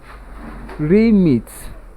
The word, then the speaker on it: remit: So if it is a verb, then it is pronounced as remit, and the stress position is on the first syllable. Two syllables too, but on the first syllables.